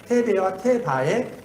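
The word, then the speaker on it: תבה: 여기 보면 테베라고도 하고 어떤 사람은 테바라고도 있는데 그 우리가 한국 사람이기 때문에 발음이 정확하지 않은데 테베와 테바의 그 중간 정도의 발음일 것 같아요. 테바 이런 정도로 예, 여러분 여기서 갈대 상자, 이 상자는 테베예요, 테베.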